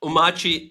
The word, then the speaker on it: Omarchy: will definitely get because Danish has a lot of those swallowed guttural sounds. So, "Omarque", that's what it is.